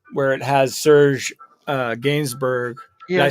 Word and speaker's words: Gainsbourg: yeah yeah um where it has serge uh gainsbourg did i say is that how you say